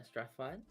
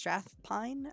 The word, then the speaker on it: Strathpine: the name um yeah strathfield it's strathpine I'm sorry I'm mine